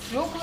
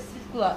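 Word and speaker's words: свёкла: Некоторые говорят свекла, некоторые свекла. И это Да. правильно.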